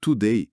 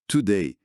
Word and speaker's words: today: Não é today com um U forte, mas today, today.